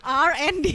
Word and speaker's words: RND: Jadi bacanya kayak R&D ya supaya lebih keren gitu ya.